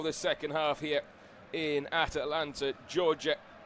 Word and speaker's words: Atlanta: And we are back underway for the second half here in Atlanta, Georgia. I should say it's Atlanta, Georgia, not Atalanta. Poor pronunciation from myself there, but I'll run you through the teams of Spain.